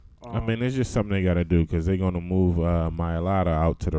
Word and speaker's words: Mailata: How you pronounce his name? Mailata.